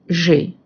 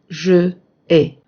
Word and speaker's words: j'ai: As you see, we say j'ai and not je ai.